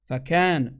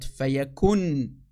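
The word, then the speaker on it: فكان: فَكَانْ, not فَيَكُنْ. فَكَانْ, that's the correct way to say it in the Arabic, not فَيَكُنْ.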